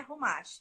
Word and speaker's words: Chumash: No Brasil, as pessoas traduzem o ret por CH. Sim. Então, geralmente escreve... É só você escrever Chumash com CH, mas a pronúncia é Rumash, tá?